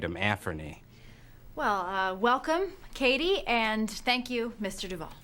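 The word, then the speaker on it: Cady: great her name is caddy caddy heron where are you caddy that's me it's pronounced like Katie my apologies I have a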